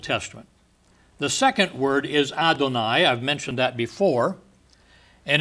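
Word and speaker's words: אדני: right ado and i i think your best pronunciation for the d is is to take a th sound and make it sound like a d like it's not t h but d h all right in case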